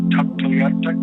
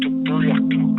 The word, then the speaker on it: Tuktoyaktuk: They call it Tuktoyaktuk, but the pronunciation is Tuktoyaktuk.